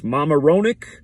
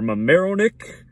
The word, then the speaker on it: Mamaroneck: I don't know if it's Mamaroneck or Mamaroneck or something different. But M-A-M-A like Mama, and then Roenick like Jeremy Roenick, the hockey player. R-O-N-E-C-K.